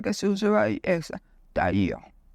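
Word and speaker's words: πταίω: Yo voy a deletrear porque es difícil pronunciarla porque P de papá, T de todo, A, y la I tiene una tilde, IO. Taío.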